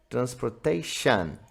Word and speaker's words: transportation: A pronúncia correta no inglês é transportation. Onde terminar esse tion, a gente fala shan.